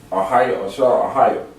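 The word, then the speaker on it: אהיה אשר אהיה: But in Hebrew, that's how you say it. Ahiyah ASHER Ahiyah. That's the beginning and the end and forever.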